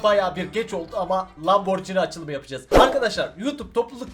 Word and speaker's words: Lamborghini: olarak adlandırıyor o yüzden abi bamberg ini değil Lamborghini diye okunur yorumlarda yazmayı diyeceğim de